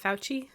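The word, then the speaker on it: Fauci: pretty much like the spokesperson is do you pronounce it fouchy yes okay it's giving that Vibe where he's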